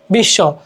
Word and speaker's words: বিশ্ব: নিচে ব আছে হ্যা আমরা বিষ্ বলতেছি না আমরা বলছি কি বিশ্ব তার মানে কি শব্দের